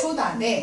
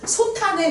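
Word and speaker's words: 솥 안에: 소단에 이래야 됩니다. 소탄에 그래도 안 되고 소에 이래도 안 돼. 소단에 누룽지 있어 이렇게 발음해야 되겠지.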